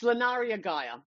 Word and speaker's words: Lunaria Gaia: tricky one so so sometimes I get Laria GAA I get um Laria GAA I get Laria it's Laria Gaia that's how you pronounce my name but you know whatever